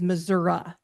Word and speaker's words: Missouri: or raise or raise Missouri's Collective IQ well that's I'm sure our friends from Missouri would be very unhappy to hear you Cas in point who pronounces a state ending an i as Missoura I never understood that